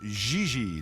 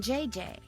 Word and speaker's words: Gigi: No, I mean JJ. Gigi. JJ. En français, you pronounce G like J and J like G. She may very well be JJ in America, but in France, she is Gigi.